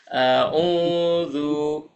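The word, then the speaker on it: أعوذ: Untuk pengucapannya, pakai ain, a-nya biasa, u-nya pakai ain, dan zu pakai zal di ujung lidah ya. A'udzu, aku berlindung.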